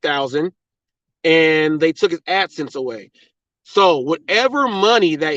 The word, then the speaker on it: AdSense: know what you're doing it's AdSense the last word is sense like Common Sense AdSense and it's spelled since